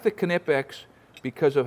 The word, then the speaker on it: Knipex: bucket full of tools you bring but man knipex see I got the pronunciation right this time boys whether it's these